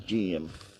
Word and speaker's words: Geum: going to be putting on these these in GM that's how you pronounce it I'll just get the close one